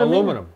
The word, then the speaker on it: aluminium: Do you say aluminium? Aluminum.